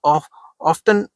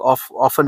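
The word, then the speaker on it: often: The most ऑफ्टन adopted, या ऑफ्टन भी कह देते हैं इसको कई लोग, ऑफन भी कह देते हैं, ठीक है, अलग अलग प्रोनाउंसिएशन है।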